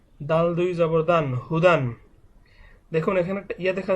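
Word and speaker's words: هُدًى: মা হা পেশ হু দাল দুই জবর দান হুদান দেখুন এখানে একটা ইয়া দেখা যাচ্ছে এই ইয়াটা লেখার ক্ষেত্রে আসে কিন্তু উচ্চারণের ক্ষেত্রে ইয়াটা উচ্চারণ হবে না শুধুমাত্র যখন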